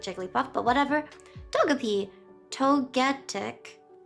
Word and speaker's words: Togetic: Togetic because it's gigantic.